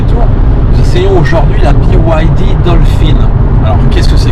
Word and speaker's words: BYD: nous essayons aujourd'hui la byyd Dolphine alors qu'est-ce que c'est que ça donc BYD ces trois lettres by yd se prononcent à l'anglaise parce qu'elle signifie build your dreams en l'occurrence il s'agit